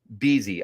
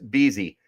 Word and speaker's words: Bezzy: So you won't have to try and figure out the pronunciation. It's Beasy. Okay, perfect. Beasy.